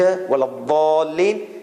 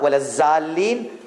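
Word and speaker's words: ولا الضالين: Just hit your tongue on this side and try to say it. Waladhalin. It should not be dhal. It should not be za. Walazalin. Waladhalin.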